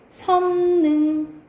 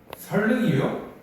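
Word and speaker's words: 선릉: 선능 아니다. 선능이 아니고 유음하니까 설능 설릉이요? 헐.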